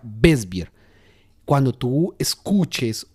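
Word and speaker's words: Weißbier: Cuando ustedes lean o escuchen la palabra beisbear, que se escribe como en español, tú la puedes ver como weisbier con w al principio, wesbier, pero se pronuncia wesbier.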